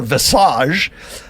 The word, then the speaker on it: visage: There was some debate as to whether she was going to show her visage, rhymes with dressage, and now we've gone with she's just going to show people what she looks like.